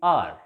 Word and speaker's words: hour: H is not pronounced in the pronunciation of this particular word.